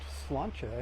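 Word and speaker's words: Sláinte: a i n t e but it is pronounced slancha and it's actually an Irish toast it's a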